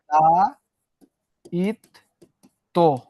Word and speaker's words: দায়িত্ব: দা ইত তো, বটা উচ্চারণ হয় নাই।